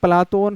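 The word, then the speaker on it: Πλάτων: इसका यूनानी शुद्ध उच्चारण प्लातोन है।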